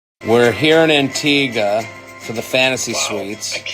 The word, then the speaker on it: Antigua: Who's going to tell you that it's pronounced Antigga and not Antigua, even though nobody has asked or even got it wrong to this point?